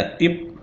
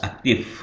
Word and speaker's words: aktif: Aktif bukan lagi aktif. Nah, beda pelafalannya itu F dengan P. Kalau P ini bibir rapat ya, antara bibir bawah atas itu rapat. Kalau pakai F, bibir bawah sedikit menyentuh gigi atas, aktif.